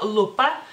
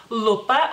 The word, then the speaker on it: lupa: Entonces en lituano sería lupa, lupa, o sea, la L es como más dura, pero realmente se escribe